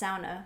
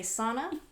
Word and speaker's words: sauna: i and i pronounced sauna because that's well because she's she's she's finished now that's the proper way to pronounce it do not say sana so i've been saying